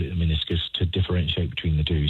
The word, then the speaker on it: meniscus: Somebody else wondering, what are the signs that my meniscus tear requires surgical intervention? Have I the right pronunciation of that? Meniscus? Yeah, brilliant. That was perfect, Fran.